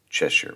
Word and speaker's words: Cheshire: um as an American our brain is trained to look at that word sh sh i r e and say Shire just automatically it's just